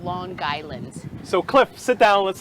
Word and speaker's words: Long Island: long island ice cream you say it like lawn lawn guy land gy that's how we say it it's loan island so cliff sit down